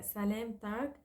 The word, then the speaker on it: سلامتك: سلامتك we say to a male, سلامتك to a female, and سلامتكن to a group.